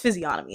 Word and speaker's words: physiognomy: It's physiognomy, y'all.